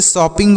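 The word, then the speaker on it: shopping: मात्र ए से लिखेंगे डबल पी से एक पी को साइलेंट करेंगे एक पी से लिखेंगे प आई से छोटी ई की मात्रा होता है और यन से आधा न होता है और जी से ग तो इससे शॉपिंग पढ़ेंगे क्या पढ़ेंगे शॉपिंग और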